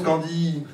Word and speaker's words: Candiie: Et toi, t'as mis I-I-E. Oui. Voilà, donc ça se prononce Candy.